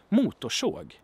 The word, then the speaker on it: motorsåg: And I say såg because I have the R and the S there, so it's a retroflex sound, and I talked about